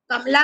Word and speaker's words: कमाल: तो ए और double A का उच्चारण इसी आधार पर हम ध्यान से लिखते हैं स्पेलिंग। तो अब ये वाली जो स्पेलिंग है, इसको कोई भी कमल नहीं पढ़ेगा, इसको क्या पढ़ेंगे हम, कमाल।